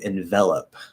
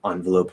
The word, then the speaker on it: envelop: You wouldn't say darkness started to envelope my soul or started to envelope my soul. No, the stress pattern is different. It started to envelop. So that is now an e instead of an and the first syllable is most likely going to be an so you're going to switch it. Envelop. Also not ope anymore, it's up. So envelop.